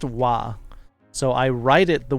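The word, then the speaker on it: は: welcome here Athena s it is spelled with the letter ha but pronounced wa so I write it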